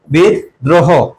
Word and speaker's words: বিদ্রোহ: হবে সন্ধা এরপরে বিদ্রোহ দেখো বিদ্রোহ এর উচ্চারণটা কি হবে বিদ যেখানে থামে এবং কোন কার থাকে না সেখানে হস চিহ্ন বসে তাহলে বিদ তারপরে কি হবে দ্রোহ হবে কি হবে দ্রোহ বিদ দ্রোহ সামান্য দেখো এখানেও কি